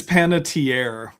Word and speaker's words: Panettiere: Panitary is not difficult to say. It's panatier, by the way. That's the official pronunciation of it.